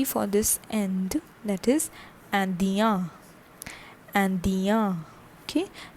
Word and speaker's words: Indien: That is Indien. Indien. Okay, that is I-N-D-I-E-N and the pronunciation is Ian.